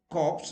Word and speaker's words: corpse: Now you see CORPS, but if you just add E here, corpse, that means dead body, then P should be, and P is always pronounced. I have written the pronunciation, so it is corpse.